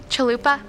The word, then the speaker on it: chalupa: repeat the word shall Luba chalupa am i pronouncing it correctly chalupa yes sounds brick C H u L u